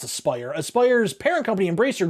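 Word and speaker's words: Aspyr: as as I'm sorry it's actually pronounced Aspire as spire's parent company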